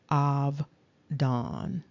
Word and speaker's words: Abaddon: And then down below, you can see that the Abaddon is also pronounced simply Avdon.